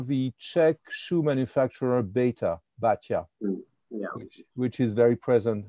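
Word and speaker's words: Baťa: B for for baa I pronounce it the Czech way baa for number of years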